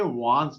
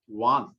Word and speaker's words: wands: इसका प्रोनाउंसिएशन होती है WANDS, लेकिन डी यहाँ पर साइलेंस रहता है, तो उसको वांस नहीं बोलते, वांस बोलते हैं, डी साइलेंस रहता है। वांस, वांस का मतलब है छड़ी, स्टिक।